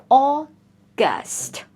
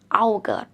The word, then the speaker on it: August: August. August. A lot of my students pronounce like a good or a good. No. Au is usually pronounced or a long or here or.